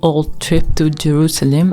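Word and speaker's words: Olde Trip to Jerusalem: trip to Jerusalem or the old trip to Jerusalem as I heard it was right to pronounce is considered the oldest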